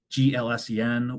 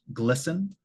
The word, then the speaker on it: GLSEN: So next is Koskik et al., which is the National School Survey conducted by GLSEN, or it's pronounced GLSEN, if you want to say that instead of GLSEN.